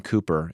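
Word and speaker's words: Cowper: sang the song um William Cooper it's spelled cper but here's a man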